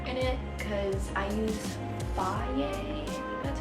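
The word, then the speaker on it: Fage: Like I usually put a lot of yogurt in it because I use Faye, that's how you say it, but I really like that one because it's super high in protein.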